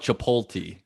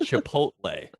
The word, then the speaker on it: Chipotle: You sound like the old ladies who call it Chipotle. It's called Chipotle. You read the letters.